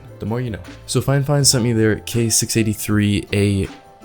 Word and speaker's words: FiFine: it even though it looks like it is phi fine it is actually pronounced fine fine the more you know so fine fine sent me their k683 a condenser microphone which